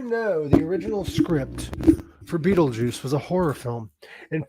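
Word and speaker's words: Betelgeuse: remember fair enough Beetle Juice's real name is pronounced Beetle Juice but it's spelled bet I'm trying to remember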